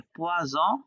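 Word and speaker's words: poison: হ্যাঁ, তবে ইংলিশের সাথে উচ্চারণটা মনে রাখার জন্য আপনি এরকমটা মনে রাখতে পারেন, যেমন পোয়া স বলছি, রাইট, স উচ্চারণ করছি, আবার ফিশ বললেও স উচ্চারণ হয়, ফিশ। ফিশের উচ্চারণ খেয়াল, হ্যাঁ, মাছ, মাছ বললেও হয়, রাইট। কিন্তু আবার এখানে পোয়া জ যখন বলছি, জ সাউন্ড, আবার পয়জন, পয়জন, ওখানেও জ সাউন্ড।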